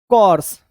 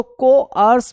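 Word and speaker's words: coarse: तो को आर्स बोलते हैं इसको, को आर्स, ठीक है। इस तरीके से इसका प्रोनाउंसिएशन होता है, कोआस, ठीक है, को आस, ऐसे इसका प्रोनाउंसिएशन होता है, कोर्स नहीं होता, कोआस।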